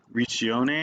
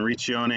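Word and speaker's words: Riccione: was just up here in reach yone I believe is how they say it so we were right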